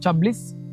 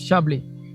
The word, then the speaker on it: Chablis: You see the pronunciation, it's not Chablis, it's Chablis. So this is a dry,